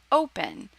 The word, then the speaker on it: open: it needs two consonants another example open once again the stress is on the first syllable open it's not open so if it's on